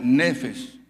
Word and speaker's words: nefesh: Es decir, el alma del hombre se pronuncia en hebreo nefesh.